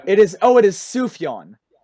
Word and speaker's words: Sufjan: I top only know five albums Sufjan ever.